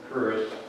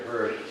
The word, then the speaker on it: Hirst: but my name is Hirst, H-I-R-S-T, and obviously, maybe it's the way it's pronounced, people will say Hirsch, like the jury, like Larry Hirsch and Sam Hirsch that ran Wesley Jury, which is H-I-R-S-C-H.